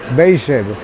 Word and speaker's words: Beijer: llegó y nos vinimos aquí cerquita a unas dos cuadras a la casa Beer. Beijer se pronuncia.